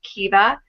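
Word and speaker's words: Keeva: little girls and her younger daughter is named kiva k-e-e-v-a and that is the anglicized form of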